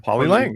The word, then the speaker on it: Polylang: Am I pronouncing that correctly? I think I am. Polylang, yeah.